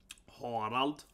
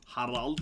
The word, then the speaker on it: Harald: It's kind of named O, Harald. So it's, yeah, it's not Harald, it's more like Harald, right? Harald. You pronounce the A longer.